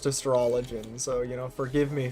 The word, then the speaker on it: Astrologian: astrologin i don't know i'm pretty sure they call it astrologian in in game but if it were real life i think it would be pronounced astrologin so you know forgive